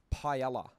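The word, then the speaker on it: paella: Your album Planet Pit, you've likened it to Pella, which is a a dish. I hope you haven't. I can't even say it correctly. Yeah, because the double L it becomes a Y.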